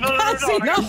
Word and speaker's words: casino: Mi raccomando l'accento. No, casino. Complimenti a Santarelli che ha capito che era un hotel.